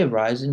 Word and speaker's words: reisen: When you say reisen, whenever you see an EI, like schreiben or reisen or spazieren, whenever you pronounce the EI, your tongue should be going to the back of your mouth.